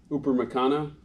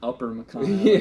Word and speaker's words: Upamecano: I always get his name wrong. Upamecano. Yeah. Did I say it right? Not Upper Macano.